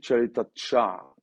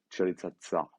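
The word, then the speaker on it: Ćaleta-Car: On parle plus de Douillet Tchaleta-Tchar, Tchaleta-Tsar, pardon, ça se prononce comme ça.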